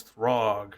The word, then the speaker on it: Throg: You got a frog for a cook? No, his name's Throg, not Frog.